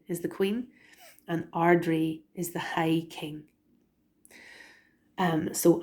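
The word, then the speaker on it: Ard-Rí: Banreen is the queen, and Ardri is the high king. So and Banreen Chinny. So that's how you pronounce the court name titles.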